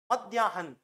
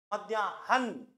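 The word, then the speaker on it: मध्याह्न: आप बोलोगे ऐसे क्यों तो देखो आप एक बार शब्द बोलो मध्याहन तो मध्यानम जब बोलते हैं ना तो है साइलेंट रहता है और न पर जोर पड़ता है। देखो मध्याहन न पे पूरा जोर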